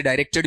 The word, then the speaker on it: direct: ये ध्यान रखना, DIRECT, ये डाई भी बनता है और डी भी बनता है, दोनों प्रोनाउंसिएशन वहां पर आपके होते हैं।